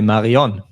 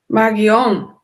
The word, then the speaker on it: Marion: In German, we have the name here Marion, but on and ion is a common ending, and we will really pronounce it as O and not as A.